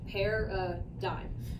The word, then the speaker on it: paradigms: be a video explaining paradigms this is pronounced pair a dime basically this is what